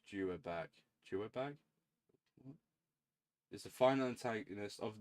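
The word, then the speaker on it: Yhwach: The almighty pronounced Juag Juag is the final antagonist of the Bleach manga and the leader of the Wand Reich.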